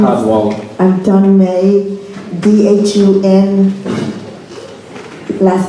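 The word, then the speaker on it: Dhun May: Dune May, I may not pronounce that right. Ma'am? All right. Sharon Hello, King and Craig my name is- Cadwalader. I'm Dun May, D-H-U-N, last name M-A-Y.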